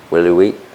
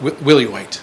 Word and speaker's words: Willie White: But this center, Willie Wheat, how do you pronounce it? Willie White.